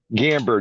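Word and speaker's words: Gamburd: Is it Give me the pronunciation of your last name. Gamber.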